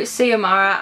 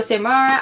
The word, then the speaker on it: Samara: this book we follow siamara and i think i was pronouncing her name wrong in that vlog i really didn't know how to pronounce it very well which oh my bad